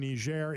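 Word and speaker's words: Niger: My generation is a group of people that for the last 20 years we've been in Iraq, Afghanistan, Yemen, Nishair. It's pronounced Nishair, by the way.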